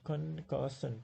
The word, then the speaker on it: concussion: Concussion, concussion, three. There are three syllables, and second syllable is also stressed. Concussion.